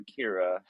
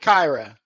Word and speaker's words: Kyra: how to say it Cairo or Kira uh I'm going with Kyra okay Kyra it is um